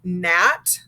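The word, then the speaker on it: gnat: at the beginning like nat so the g is silent we just make the n sound um and they're used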